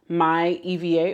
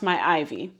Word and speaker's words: myIviye: of pattern picks from my eva or i think it's pronounced my ivy my pattern pick from